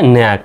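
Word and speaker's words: knack: তাহলে এখানে কে এর উচ্চারণটা সাইলেন্ট। যেহেতু কে এন আছে শব্দের প্রথমে কে উচ্চারণটা সাইলেন্ট। এন এর জন্য দন্তন এতে এখানে জফলা আকার আর সি কে মিলে সিকে মিলে কি শুধু ক তাহলে শুধু ক লিখলাম তাহলে কে এন এ সিকে উচ্চারণটা হবে নেক এ মানে হল দক্ষতা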